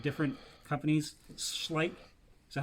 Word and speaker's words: Schleich: Schleen, I think is how you say it. Schleen. Spleen was a company that was the majority maker of them. But there was also Bully. It's definitely a sh sound because my maiden last name is sh.